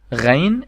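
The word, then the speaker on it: غين: So this letter called Ghain, and we spell it like the French R, R.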